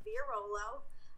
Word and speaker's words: Villarolo: Yes, that's how you pronounce my last name. There's lots of weird letters going on there, but it's pronounced Villarolo.